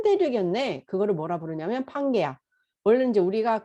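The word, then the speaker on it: Pangaea: 그거를 뭐라 부르냐면 판게아. 원래 이제 우리가 그 영어를 판게아 이렇게 읽긴 하지만 원래는 정확한 영어 발음은 판게아 이러면 아무도 못 알아들어요. 뭐냐면 펜지아 이래야 돼요.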